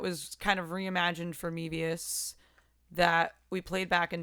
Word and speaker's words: Mevius: Mevius. Like Mevius. The Japanese cigarette.